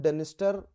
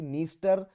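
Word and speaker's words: Dniester: दो इनके नाम डी से शुरू हो रहे हैं बट डी को प्रोनाउंस नहीं किया जाता। नीपर रिवर, अगेन ब्लैक सी। तो डेन्यूब, डेनिस्टर डेनिस्टर नहीं होगा actually, नीस्टर, नीपर and Danube are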